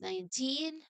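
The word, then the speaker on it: nineteen: earlier the number is 19. Uh this word begins with a simple word nine. Remember that nine has a has this soft um spot. Let's say nine has a soft nasal n sound.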